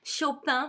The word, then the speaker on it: Chopin: all my favorite actually chopin frederick so i pronounce it in a french way because even if he was born in poland in 1811 he moved at the age of 19 to paris and he will spend the